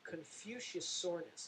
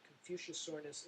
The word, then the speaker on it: Confuciusornis: one right here and it's Confuciusornis is how you pronounce that Confuciusornis is the genus of